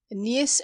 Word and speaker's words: Eneas: Know then that the parents of Eneas O'Hagan, commonly pronounced Neas O'Hagan, lived about the close